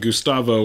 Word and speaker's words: Gustavo: I think me and Gustavo are going to be touring after this. Is that how you pronounce his name?